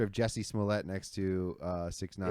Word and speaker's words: 6ix9ine: It's a little different because I saw 6ix9ine's ass whipping. Getting And whipped. so, Yeah, he really got for fucked. the Yeah. listeners, it's a picture of Jesse Smollett next to 6ix9ine It's, after they both got their ass beat.